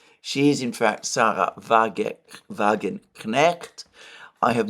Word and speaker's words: Wagenknecht: She is, in fact, Sarah Wagenknecht. I have not been pronouncing the K. This is whereas, in fact, the K in her name should be pronounced.